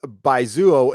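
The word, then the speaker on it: baizuo: again yeah you know by Zuo by Zuo so Kay Webber says by Zuo is pronounced by Zuo thank you Captain Marvel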